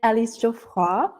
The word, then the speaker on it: Alice Geoffroy: Um, so my name Alis Joe. I pronounced it the very French way.